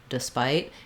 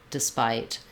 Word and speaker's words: despite: i say it but sometimes thinking of it as a schwa despite is going to help you get away from the incorrect syllable stress or trying to think of this e as being a clear vowel it's really a reduced vowel another thing i'll suggest